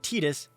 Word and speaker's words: Tidus: now yunna doesn't know i pronounce it titus that is the canonical pronunciation now titus while titus